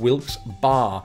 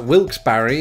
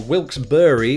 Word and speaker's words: Wilkes-Barre: true and that's because the locals very definitively pronounce it one of several ways so you've got a wilkes-barre apparently or wilkes-barre or wilkes-barre but not wilkes-barre tell me in the